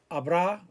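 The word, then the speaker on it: habrá: was or were there abra will there be is there going to be or are there going to be there been or have there been remember all of these the h is silent and we've already had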